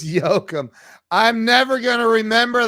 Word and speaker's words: Jokum: they do, but yeah, Jokum. It's not. No, it's Jokum. He may go by for American's sake, but it's Jokum.